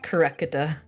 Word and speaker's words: Kurekata: I think it's pronounced Kurekata. Cause his name is Kirio Kurekata. Kurekata, okay. Cause he's a collector.